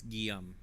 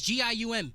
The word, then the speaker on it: Guillaume: Guillaume is Gium. Guillaume. Guillaume. It's like Liam, but in French.